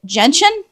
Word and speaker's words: gentian: And I believe you pronounce it gentian.